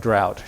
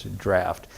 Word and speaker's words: draught: That word looks like drought to us, but that's the English spelling of what we pronounce as draft.